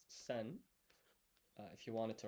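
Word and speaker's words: 千: So, a thousand in Japanese is pronounced sen.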